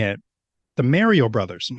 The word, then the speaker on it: Mario: I internally shudder because I'm like, why are you saying it like that? Like Mary.